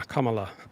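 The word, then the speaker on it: Kamala: of her name and the correct pronuncation of her name is comma and then LA commala and uh there's considerable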